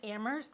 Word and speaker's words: Amherst: worries me that if in Ammerst where the H is silent, if the students don't